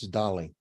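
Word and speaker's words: Dalí: years old when you're eight years old it's Dolly okay so but the point is that maybe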